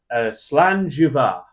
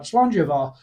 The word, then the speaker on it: Slàinte Mhath: more appropriately gar I would say it is pronounced slanga yeah I'd go that's not too bad slanga now that's not too bad now we'll try